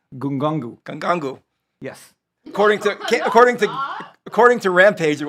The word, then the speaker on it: Ngannou: for the show, and you're not even pronouncing these guys' names correctly. Okay, it's Francis Ngannou.